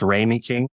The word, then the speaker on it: Ramey King: is it that they do so it's actually pronounced rainy king um I know when you were doing the